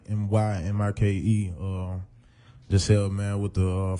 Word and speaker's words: Mymike: I know some people may say my name a little wrong, but it's Mymike, Mymike.